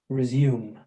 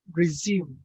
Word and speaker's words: resume: New and resume. Yeah, right. New, new, and resume. In British pronunciation, the consonant, this one, yeah, yeah, is included in these two words, resume and new.